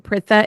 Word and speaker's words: Pritha: Pritha.